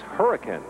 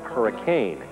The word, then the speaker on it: Hurricane: state especially some pronunciations remember it's hurricane not hurricane and last of all